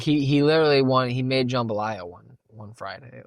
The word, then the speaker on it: jambalaya: But yeah, dude, like he literally he made jambalaya one Friday, like yeah, my recipe, my family recipe, jambalaya. Oh, nice. Jambalaya, that's how he said it. That's how they say it.